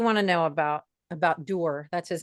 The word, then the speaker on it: Dwr: what do you want to know about about dur that's his name it's spelled dwr but it's pronounced dur dwr hang on a second ly ly here